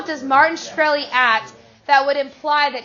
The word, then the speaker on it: Shkreli: chairman is it pronounced shkreli yes sir see there you can't answer some